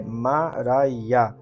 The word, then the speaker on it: Maria: Maria, cuja pronúncia é Mará, nasceu em 1844 em uma fazenda de Lisbon, Ohio.